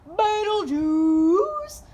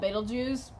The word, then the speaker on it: Betelgeuse: yeah but let's see you are probably familiar with its Arabic name vital Jews but it's actually called baitul Jews know pronounce it like I am or else people will think you're crazy yeah so um its